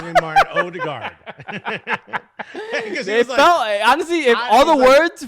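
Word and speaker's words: Ødegaard: his name okay hi my name is martin erdogan but you can call me martin odegar okay oh the guy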